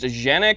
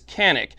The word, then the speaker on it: Canik: nucanic tp9 elite sc now i understand that it's pronounced genic however i don't call germany deutschland so let's go ahead and stick with the english translation which is canik now first thing i